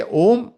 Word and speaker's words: Om: You can say Om, but best to say Am.